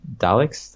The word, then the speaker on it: Daleks: I went for the destroying the Daleks.